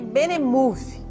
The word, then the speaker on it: Benemov: Pronuncia-se Benemove.